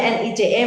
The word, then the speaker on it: Nice: nice nice convention ya Jadi bukan nice tulisannya nice memang tapi karena ini nama kota kalau convention itu kan nama kota Jadi dibacanya nice kemudian dicek sudah ada